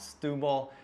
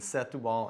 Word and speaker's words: Setúbal: but i gotta know how many times did we make the mistake between set the wall and stewball a bunch like way too many even though we know how it should be said we were taught how it said still the way it looks it's a tough one it is a tough